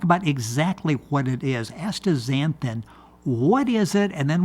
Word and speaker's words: astaxanthin: well yeah because I'm saying it with the Z and there's an X there but but so much